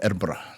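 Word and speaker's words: Edinburgh: But I didn't go anywhere outside of Erbra. That's how they pronounce it.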